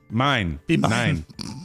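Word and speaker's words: Mein: dipped in red icing that's a german donut and it's spelled m-e-i-n mine cookie to my cream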